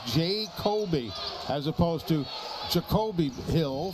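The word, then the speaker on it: Ja'Coby: Rezesh takes a seat now and J Kobe Osborne and that's how he spells it and pronounces it. It is J A Epostrophe C O B Y. It is J Kobe as opposed to Jacobe Hill for Jacksonville.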